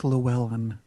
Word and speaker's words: Llewyn: No, it's Llewyn. Yeah, that's what I thought. Llewyn. Right. It doesn't pronounce that way in the trailer.